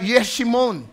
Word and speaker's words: Jeshimon: At ang sabi, ito raw, siwang na yon ay nakatingin dun sa Jeshimon, kung saan naroroon ang mga Israelita. At itong Jeshimon, ayon sa Bible ay, ang pronunciation dito ay Yeshimon.